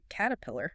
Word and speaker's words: Caterpillar: And the heavy equipment brand Caterpillar. Perfect example combining flap T and schwah. The first T is a flap T cater.